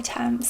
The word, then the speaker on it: Thames: London we have River Thames, so we say Thames. I don't know what they pronounce it like there.